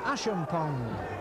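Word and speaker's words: Achampong: We all had a bit of a debate down in the press room at half time as to the pronunciation of the coloured inside right's name, and it is Kenny Hashim Pong.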